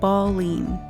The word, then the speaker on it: Baleine: Locals pronounce it Baleine.